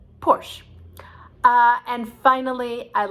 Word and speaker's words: Porsche: fancy car from germany called a porsche in german because they pronounced the final e's but here we just say porsche because that's enough we